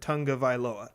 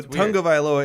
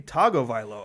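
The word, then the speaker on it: Tagovailoa: pronounce his name and he says it tonga viloa yeah exactly so tango vialoa is correct but if you look at it it looks like it should be tagovilo tago part of that to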